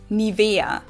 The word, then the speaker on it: Nivea: pronunciation pretty funny here English native speakers usually say Nivea Nivea in German we say Nivea Nivea so the emphasis is got Nivea this is